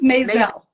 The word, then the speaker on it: Mazel: say your last name for me it's mayel awesome I was like oh I gotta make